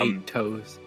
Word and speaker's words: Aetos: He pronounces it wrong, by the way. That's Yog. Anyways, of Aetos, and It's 8 toes.